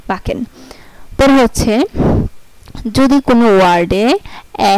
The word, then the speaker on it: backen: যেমন BACKEN, বাকেন, এই যে BACKN, বাকেন, এই যে সিকে, সিকে আছে এখানে, তাই এটা কয়ের উচ্চারণ হয়েছে, বাকেন।